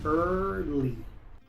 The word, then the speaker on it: early: Muchos pronuncian esta palabra early, pero aquí la e y la a son mudas, así que esta palabra se pronuncia early.